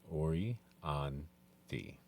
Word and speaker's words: Orianthi: They said say it like it's spelled Orianthi.